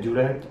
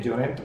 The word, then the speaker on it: Llorenç: He mirado en internet cómo se pronunciaba y me he dado cuenta que Llorent, que es Lorenzo en castellano, no se dice Llorent, sino la O es como una U.